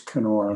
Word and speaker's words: Kenora: It's Kenora. It is Kenora. You know, I try to, minor detail. I try to get it halfway between the soft K and the hard K.